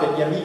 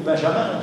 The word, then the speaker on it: Benjamin: Et du coup, Benjamin, Ralph Benjamin ou Benjamin, selon qu'on prononce à la française ou à l'allemand, rappelait que là, évidemment, la Révolution française crée un nouveau calendrier.